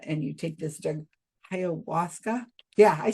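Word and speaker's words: ayahuasca: or South America and you take this drug, Hawasa.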